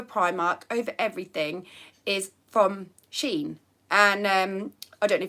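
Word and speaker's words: Shein: pound shop over Primark over everything is from Sheen and um I don't know if you've heard of it some people might pronounce it I don't know it's spelled s-h-e-i-n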